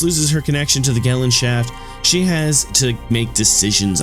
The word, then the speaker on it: Gesellschaft: She operates through the Gesellschaft. Actually, it's pronounced as Gesellschaft.